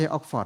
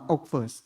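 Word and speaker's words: Oxford: เมือง อ ออกฟเฟิร์ด ครับ ไม่ ใช่ ออกฟอร์ด นะ ครับ ออก เสียง เป็น ออก เป็น อ่า โอกเฟิร์ด เป็น เมือง เป็น มหาวิทยาลัย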